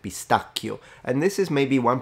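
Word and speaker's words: pistacchio: it would be pronounced pistachio and this is maybe one pronunciation rule that you could learn here with this video CH is always a K in Italian and that's a big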